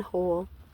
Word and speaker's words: whole: or with an H there is an e on the end silent E on whole all right well I